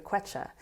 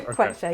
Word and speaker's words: Quechua: I hope everyone go look up Quechua women. They have all How do you these spell it? with a Q. Okay. Quechua, yeah, with a Q.